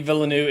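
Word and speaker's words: Villeneuve: say his name yes Denny villanu is how I've heard it at least pronounce in the uh the marketing for the film but yeah speaking of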